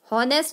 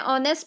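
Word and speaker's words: honest: इसी तरीके से ऑनेस्ट, हॉनेस्ट नहीं पढ़ते हैं, ऑनेस्ट पढ़ते हैं, क्योंकि एच साइलेंट है, तो इसमें भी अ आया।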